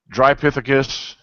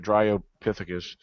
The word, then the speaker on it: Dryopithecus: and keep in mind you got the Australian Pithecus, and then you got the Drypithecus. Yeah, Dryo to pronounce it right, Dryopithecus.